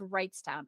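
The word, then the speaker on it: Wrightstown: h's no two G's the g is silent so it's right toown okay so how old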